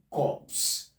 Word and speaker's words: corpse: If we have this word instead, corpse, this will be pronounced as it is written. It is going to be pronounced as it is written. We call that one corpse, not core.